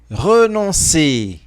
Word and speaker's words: renoncer: que tu peux aimer sans renoncer. Sans renoncer. Atenção, porque aqui tem um biquinho.